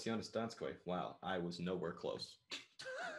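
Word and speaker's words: Jonas Donskoi: Like, just be like, hey, how do you pronounce this guy's name? Oh, it's Jonas Donskoy.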